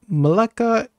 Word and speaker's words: Melaka: And we have some jokes that make me very, very laugh, and that Melaka is pronounced the same like neraka.